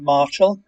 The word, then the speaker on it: Martial: I spoke with uh Marshall it's spelled martial without the e on the end but you pronounce it Marshall yeah yeah Andrew came